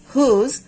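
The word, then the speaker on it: whose: যখন দেখবো যে ডব্লিউ এইচ এর পরে ওস লেটারটি আছে ও লেটারটি আছে সো সেই ক্ষেত্রে আমরা ডব্লিউ টাকে সাইলেন্ট করে পড়বো যেমন হু হুম হুজ হোল হু এভার এই ধরনের ওয়ার্ডগুলোতে আমরা এইটাকে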